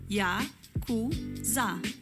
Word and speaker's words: Yakuza: 8, 9 e 3 se pronuncia Yakuza.